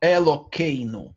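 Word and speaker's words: אלוקינו: Элокейну. Надо произнести через Эй.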